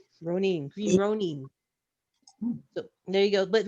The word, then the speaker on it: Green Ronin: We're pronouncing Green Ronin wrong, just like we are Modifius. It's Green Ronin. Green Ronin.